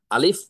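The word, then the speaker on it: ألف: করছেন নোট করে ফেলেন আলিফ অক্ষরটি বা হরফটি কণ্ঠনালীর শুরু থেকে বা গলার শুরু থেকে জোরে সোরে ধাক্কা দিয়ে দ্রুততার সহিত ধমকের সুরে উচ্চারণ করতে হয় যেমন আলিফ আলিফ আলিফ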